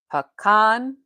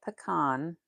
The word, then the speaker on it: pecan: So, either it's pecan or peon. I say pecan. Pan. Pean or pan. But I don't say it like a con like a con artist.